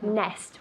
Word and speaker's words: nest: Nest, with that T at the end, nest.